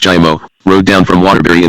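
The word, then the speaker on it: Giaimo: Gi, pronounced Jimo, rode down from Waterberry in the limousine with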